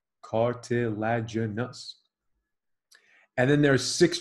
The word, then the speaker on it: cartilaginous: There are two types of joints that we classify as cartilaginous, five syllables, cartilaginous.